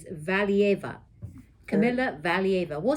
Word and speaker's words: Valieva: Kamila, I always forget how to pronounce her last name. It's Valieva. Kamila Valieva.